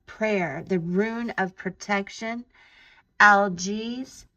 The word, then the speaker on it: Algiz: Algiz, it's spelled Algiz, the letter Z.